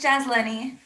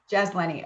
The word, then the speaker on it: Jazlene: pronounce your name girl it's jazz lenny jazz lenny okay great yeah so